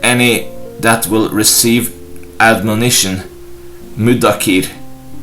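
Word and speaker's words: مُدَّكِر: That is with doubling of consonant dal di. Abu Dawud said the word mudakir may be pronounced as mim, m, with a short vowel u, dal di, with a short vowel, and kaf, k, with a short vowel I.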